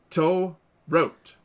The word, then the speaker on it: To Rot: We're just really trying to make sure we get the last name right, because if we pronounce it the way it looks in English, it is not good.